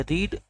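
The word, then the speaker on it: read: यही होती है, रीड, और इसको भी रीड, इसको भी रीड, लेकिन इसको बोलने का तरीका क्या होता है? रेड, रीड, रेड, रेड। बोलने का तरीका अलग है लेकिन स्पेलिंग वही होती है।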